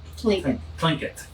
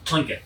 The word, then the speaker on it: Tlingit: Tlingit. Yes, Tlingit. Tlingit. Because that T is silent.